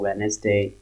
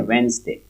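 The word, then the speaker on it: Wednesday: है, ट्यूसडे को, वेनेसडे, इसको वेनेसडे हम नहीं पढ़ते, इसको एक्चुअल में इसका प्रोनाउंसिएशन है वेंसडे। ओके, वेंसडे कैसे पढ़ेंगे, बोलिए मेरे साथ साथ, वेंसडे। ओके, तो ये वेडनेसडे भी नहीं है, वेनेसडे भी नहीं है, वेंसडे।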